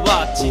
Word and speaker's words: WACCI: 塁打石田 WACCI と書いて読み方はワッチで間違いないなんとか